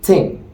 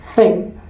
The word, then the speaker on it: thing: just like when we say the word Ting see Ting this is incorrect but when we say thing this one is correct that is the little difference of how you would position your tongue that is Nuance it's